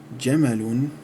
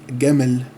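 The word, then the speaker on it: جمل: Jim is pronounced as Gim with a G sound, so Jamal becomes Gamal, which became in English camel.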